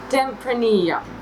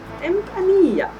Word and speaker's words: Tempranillo: Double L is Y in Spanish. Okay. I would agree with Kate. I think that's how it's pronounced as well. Tempranillo. Tempranillo.